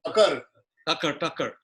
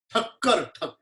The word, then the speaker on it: Thakkar: Thakkar Bhojanalay. Tucker. Yeah, Tucker. Thakkar. Huh? Khattar. Thakkar. Okay.